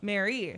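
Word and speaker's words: Mare: I spelled it the correct way so because it's spelled M A R E. Oh, it looks like Mar. Yeah. Mary.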